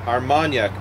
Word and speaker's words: Armagnac: that's how I that's how you say it armanac barrels Brew number 11 so there are now